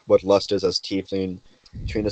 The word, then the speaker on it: tiefling: Google says it's tiefling, but let's not get into that argument because I actually did look that up because I I used to had no say life.